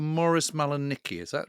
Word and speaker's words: Malanicki: And Rob, your grandfather was called Morris Malanicki, is that right? That's how you pronounce it? Yeah, Malanitsky.